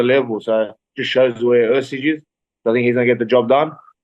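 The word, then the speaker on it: Erceg: Ursig. Ursig to beat Kaikara France, especially after that fight with Pantoja.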